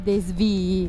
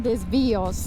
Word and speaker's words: desvii: Quindi il desvio al plurale si dice desvii, non desvios.